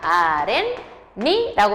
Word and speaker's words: 아랫니: 자, 그럼 아렌도 발음이 어떻게 됩니까? 아렌니라고 발음하죠.